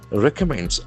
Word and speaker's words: recommend: Collegium recommends re c M. So that is a beautiful verb here. Recommend. Recommend. Accent force to third syllable.